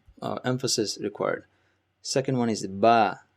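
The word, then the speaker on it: ب: Ba is like your English B, boy. So it's similar. It just Ba is pronounced from the tip of your lips. So when both of your lips meet, that's where the Ba is coming from.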